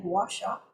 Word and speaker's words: Guasha: If that's something that you'd like to search for on the internet, Cleveland Clinic and Guasha is spelled Gu U A S H A.